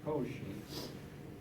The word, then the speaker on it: Cauchy: pronounced Cauchy.